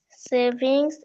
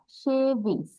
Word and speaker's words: shavings: pencil, savings and Savings না, shavings. savings. সে তালিবর স দিয়ে pronunciation হবে shavings. Savings. শেভিং তালিবর সটা জোর দিয়ে উচ্চারণ করতে হবে shavings।